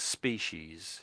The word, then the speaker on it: species: Sometimes the S, so sometimes the C is pronounced as an S and it starts with an S, the word, and it